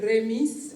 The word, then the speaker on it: Remis: l'Italie, un village appelé Remis. Alors, ceux qui ne connaissent pas la prononciation l'appellent Rémi, mais ce n'est pas un film français, c'est bien un film italien.